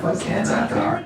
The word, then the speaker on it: Xanathar: It's the X that makes the Z sound.